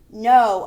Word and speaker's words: know: Know, I know something in my brain. The K is silent.